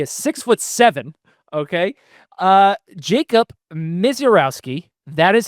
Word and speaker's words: Misiorowski: Uh Jacob Miserowski, that is how you say the name.